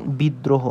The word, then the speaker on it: বিদ্রোহ: বসবে নিজেই উচ্চারিত হবে যেমন বিদ্রোহ এটাকে আমরা কিভাবে বলতে পারি আমরা বলতে পারি বিদ দ্র হো এভাবে বলতে পারি না অর্থাৎ বিদ প্রথম হচ্ছে বিদ এই দ দুইবার উচ্চারণ হয়েছে এবং প্লাস র ফলা র ফলার সাথে র ফালা বসবে এবং হ বিদ্রো আমরা কি হ বলি না আমরা কি বলি বিদ্রোহ বলি অর্থাৎ এজন্য হকারে হ